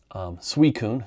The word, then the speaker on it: Suicune: Suicune, had to look that up, how to pronounce it.